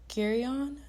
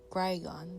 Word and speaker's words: Grigon: Uh, Lord Gerion, let me get me one second. I'm going to make sure I say his name correctly. Let me see. Lord Grigon, that's his name. Gragon.